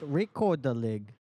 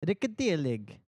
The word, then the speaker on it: Rekorderlig: They basically said it like rekorderlig. Um, But did you know that's actually not how it is meant to be pronounced? The Swedish word, I don't know if that's how you meant to pronounce Swedish. Swedish? It is actually pronounced rikadelig.